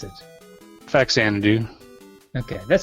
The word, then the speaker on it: Faxanadu: do you pronounce it faxanadu okay that sounds right faxanadu yeah I was a little confused on whether the X was pronounced with a z you know how you